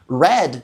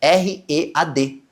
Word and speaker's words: read: Até mesmo as mesmas combinações de letras podem ser pronunciadas de formas diferentes. Sabe red, de vermelho? Red também pode ser, eu li no passado, red, R-E-A-D.